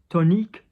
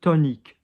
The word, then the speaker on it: tonique: Tonique, ton. Notice O-N, but we're not saying on here. We're going slightly higher because it's O-N-I. And what did I say? When you have an N and the vowel, there is a vowel after it, it goes high, not low. So not ton, but tonique.